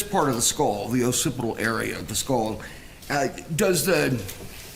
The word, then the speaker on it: occipital: The occipital fracture, am I pronouncing that correctly? Yes, sir. The occipital fracture, is there